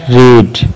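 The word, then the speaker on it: read: Next है रीड, पढ़ना, इसकी सेकंड रेड और थर्ड भी रेड कहलाती है अगरचे स्पेलिंग सेम ही है।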